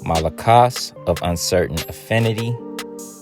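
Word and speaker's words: μαλακός: It's the same Greek word, and it's Strong's G3120, malakos. Okay, that's how it's actually pronounced.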